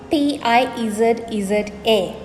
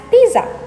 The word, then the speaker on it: pizza: But there is a T that is not there in the word that you have to inject into the middle of the word when you're pronouncing it.